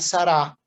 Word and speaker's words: Sarah: digo porque es que el cardenal sarah se pronuncia sara sí lo creo el